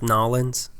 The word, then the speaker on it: New Orleans: ride he said that apparently takes hours it's pronounced nollans and just gives me nollans gonna smack your